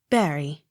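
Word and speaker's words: Bury: on last syllable b-u-r-n-e-t-t burnett accent on last syllable b-u-r-y barry c a l d e r o n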